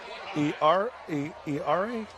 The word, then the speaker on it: Era: Yeah, and that was the play I was telling you about earlier where Dallas – E-R-A? It is pronounced Era.